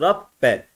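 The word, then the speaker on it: رَبَّ: Aslında bunun okunuşu da Rabbedir. Bakın Ra, B'de cezim var. Rab, sonra tekrar B'ye geldik. Rabbe, Rabbe.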